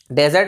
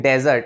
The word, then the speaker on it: dessert: तो इसकी pronunciation डेजर्ट ऐसे नहीं होगी, इसकी करेक्ट प्रोनाउंसिएशन होगी डिजर्ट, डिजर्ट, like that, डिजर्ट ऐसे इसकी करेक्ट प्रोनाउंसिएशन होगी।